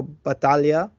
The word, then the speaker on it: Battaglia: dear friend of mine Federico Batalia incredible pronunciation of my last name impressive man thank you